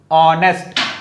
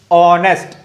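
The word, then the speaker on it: honest: चक्कर में नहीं जाना, इधर लिखा है एच, है ना, और ये आता है इंग्लिश अल्फाबेट के कॉन्सोनेंट में, लेकिन आप प्रोनाउंसिएट कैसे करते हो? ऑनेस्ट, ओ, ऑनेस्ट।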